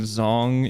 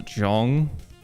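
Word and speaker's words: Zhong: I think Zong is pronounced a Jong.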